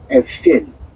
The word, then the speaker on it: Эйфель: Ну, наверное, на французский манер его надо правильно произносить — Эйфель.